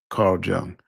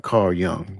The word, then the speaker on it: Carl Jung: Carl Jung. Oh, I'm sorry. Carl Young. That's how it's pronounced.